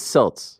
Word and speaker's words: Celts: think the Cals are situated uh it's actually pronounced selts it'ss did you take a picture of facts